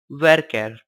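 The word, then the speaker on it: varchar: characters in length you variable character denoted as var CH AR and pronounced as worker it is a variable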